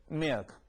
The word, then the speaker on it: milk: 전에 우리가 했었죠 L 뒤에가 나왔군요 요런게 우리가 밀크 밀크 이렇게 발음하는 거보다 한번 요렇게 써 볼까요 한글로 요렇게 해놓고 보니까 자 흉내를 해봅시다 하면서이를 살짝 죽여봐 milk 됐나요 자 milk 하나 더 해 볼까 그러면